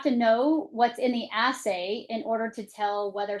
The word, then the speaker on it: assay: what they test for is called an essay. Is that correct? An assay. Yes. Assay. And that's spelled as ss a y.